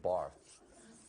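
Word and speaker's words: Barthes: not dude it's Mr Barth the S is silent you're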